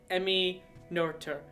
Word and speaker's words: Emmy Noether: So again, because I'm a thief, I stole Ansh's idea for women in science, and I did Emmy Noether, right?